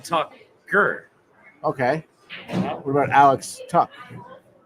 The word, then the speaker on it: Tuch: What about Alex Tuck? Isn't it spelled Tuch? Yeah, but it's pronounced Tuck.